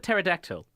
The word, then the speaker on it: pterodactyl: just thought of mm-hmm the word pterodactyl yeah now that bat that P is silent yeah how do you